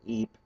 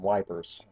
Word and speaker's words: Ypres: pronunciations for French terms in the way that Ypres, as in the Battle of Ypres, became wipers, because it's kind of what it looks like to someone who does not speak French.